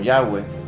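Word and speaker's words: Yahvé: Dios nombre conocido como nombre que no se puede pronunciar pues no tenía no s no tiene vocales y se le conoce como el Dios He B que es el nombre de nuestro Dios que nosotros podemos pronunciarlo como yahwe que es el nombre real de Dios yahwe y aquí lo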